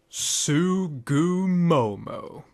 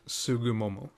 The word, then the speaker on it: Tsugumomo: and if you wonder I believe the correct pronunciation is something among like sugu Momo all in all without